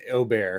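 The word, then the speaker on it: Åberg: by the way did did you hear the proper way to say his last name on the broadcast it's like Oar it's Oar I was shocked it took me a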